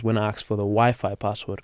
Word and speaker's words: Wi-Fi: I asked for the Wi-Fi password cuz in Spanish it's wiffy so I said uh do